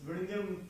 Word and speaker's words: Vizhinjam: So he said that look, that is not the way it is spelled. So that is not the way it is pronounced.